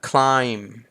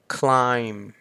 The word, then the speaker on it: climb: นี้ เนาะ ต่อ มา climb clim ก็ วิธี การ ฝึก เสียง นี้ นะ ครับ ผม ก็ แบ่ง ออก เป็น 2 ก่อน คา แล้ว ก็ อื CL CL ก็ เหมือน คาย แล้ว ก็ ออก เสียง ม ม้า อย่าง ที่ วง เล็บ ไว้ ให้ ตรง นี้ นะ clim แบบ นี้ จะ แปล ว่า ปีน